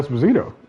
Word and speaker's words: Esposito: But that was all because I liked Giancarlo Esposito. So Esposito. I'm sorry. Let me pronounce that man right.